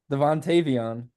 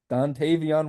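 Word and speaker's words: Dontayvion: Devontavion. Is that not it? Wait, say it again. Dontavion Wicks. Okay, you pretty much got it.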